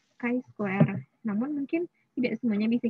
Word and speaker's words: chi-square: Ada uji T, ada uji F, ada uji ini bacanya chi-square.